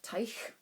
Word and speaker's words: Teich: a complex issue by Nicolas M Tyco to use the German pronunciation forward by Jamison Greene